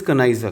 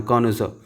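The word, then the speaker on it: connoisseur: Next one इज कनाइजर, कनाइजर, कनाइजर। ठीक है, कनाउजर, कॉनोजर भी बोलते हैं, कनाइजर भी बोलते हैं। जो से मैंने लिखा था कॉनोजर, आप इसको ऐसे प्रोनाउंस करना, कॉनोजर।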